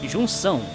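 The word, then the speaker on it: Junção: the correct pronunciation of jung chao as a jung song like we're gonna try to pronounce it in portuguese it's pronounced jung song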